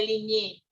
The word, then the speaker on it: Ligne: Es el mismo, lo que pasa es que se pronuncia de Ligné. Es un apellido francés.